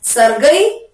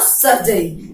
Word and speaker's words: Sergei: As it is a name, so we can pronounce this as Sergei or Sergei. There is no problem.